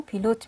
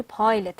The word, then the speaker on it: pilot: Pilot پیلوت هست که ما شما پیلوت میگیم ولی پایلت هست اصلا تلفظش.